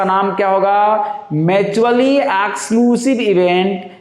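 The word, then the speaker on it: exhaustive: एक्सक्लूसिव events, H silent रहेगा, एक्सक्लूसिव events.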